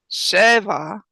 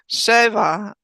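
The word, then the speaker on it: שבת: When you put them together, make sure you're accenting the first syllable. Shaboth. Did I do it? Yes, you got it. Okay. Shabath.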